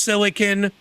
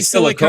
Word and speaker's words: silicon: It's properly pronounced silicon. People that I say say silicone. silicone are fucking dumbasses.